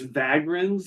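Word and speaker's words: Vagrans: encyclopedia wow and it's vagins like with 2 right is V 2 yeah v a g r a n s like vagrant without a t yes but but the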